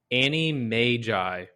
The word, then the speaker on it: Animagi: the the wonderful world of and it's actually pronounced Annie Mai Annie that's what I looked it up yeah